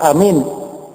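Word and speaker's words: آمين: sini yaitu asahuhuna waaruna yang paling sahih dan paling masyhur yaitu Amin a-nya panjang minnya panjang Amin ya panjang dan tidak pakai syabdah jadi Amin gu ya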